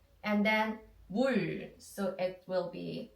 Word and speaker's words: 물: The water in Korean, we say 물, 물. So what should we do now? We should find the consonant first. M sound, M sound. Yes, right, the M sound first. And then we have 물, 물.